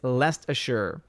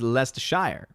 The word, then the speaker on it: Leicestershire: laughing at me as i was destroying this pronunciation uh sharon sharon sharad ferguson what's going on says it's lest ashur leicestershire gotcha scott miller says lester shire and then lester sure says snort of poopis